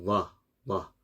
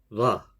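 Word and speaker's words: ظ: 이것도 혀를 밑으로 까는 소리이긴 한데 처음 조음점 발음이 이제 시작되는 그때 혀의 위치가 양이 사이에 깨물었다가 나 재빨리 내려야 돼요. 혀를 깨물었다가 혀가 이 사이에 있다가 재빨리 밑으로 쫙 깔리는 소리.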